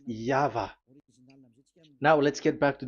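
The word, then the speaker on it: YHVH: Pronunciation is equal V. It is V. Y H V H. So it is YAHVAH.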